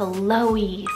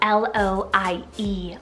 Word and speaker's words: Loie: Then for the girl side, we have Loie, spelled L-O-I-E, Loie.